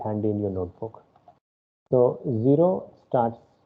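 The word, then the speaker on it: cero: in your notebook so zero starts it's called sero okay c is pronounced here as sur sound so it is zero so don't say something like uh kero or anything else okay then starts with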